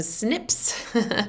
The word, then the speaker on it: SNPs: right now these snps or you can pronounce them snips are exactly what they